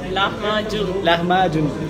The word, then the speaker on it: lahmacun: Lahmacun, tu prononces comment? Lahmacun? Lahmacun.